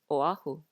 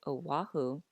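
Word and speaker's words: Oʻahu: which means it's pronounced oahu so you see the importance of the okina without it we get oahu but it should really be o ahu mao popo understand okay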